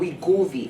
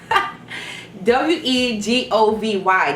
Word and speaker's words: Wegovy: Number 3, there's another drug called Wegovy, and you spell that drug W-E-G-O-V. W-E-G-O-V-Y.